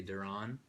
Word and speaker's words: Deron: Some might pronounce it Deron. I will accept any pronunciation because I know it's a weird If I had spelling. $1 every time I heard someone say Deron, we could get another 6-pack.